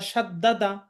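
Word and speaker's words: ص: সদ হরফটা কিভাবে উচ্চারণ করতে হবে? এখানে লেখা আছে সদ। যোহবার আগা সামনের নিচের দাঁতের আগা থেকে শীষ সহ মোটাভাবে উচ্চারণ করতে হবে। আগা সামনের উপরের দাঁতের সাথে লাগিয়ে উচ্চারণ করতে হবে। সামনের নিচের দাঁতের সাথে সামনের নিচের দাঁতের আগার সাথে লাগিয়ে।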